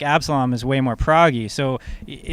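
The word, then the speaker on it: Absolomb: favorite Periphery song, and I can never pronounce it, Abdoslam off the new. Oh, Absalom.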